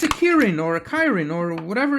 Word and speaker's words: Kirin: I mean, it's a ki-rin or Kirin. I'm going to call it a Kirin because I think it's more close to the original folklore material, which I believe is Japanese or at least Asian.